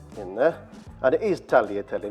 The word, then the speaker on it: tagliatelle: it's 200 grams of Tahlia telly in there and it is tagliatelle not tagliatelle you don't pronounce the G sorry I'm a bit